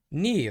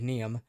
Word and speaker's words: Neeve: from earlier that morning Neeve I have to pronounce it correctly because I still look at it and think neem uh Neeve uh our